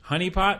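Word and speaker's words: HuniePop: of the game go so honeypop but it's spelled hu n i e I would okay I guess it's like hey honey okay so the general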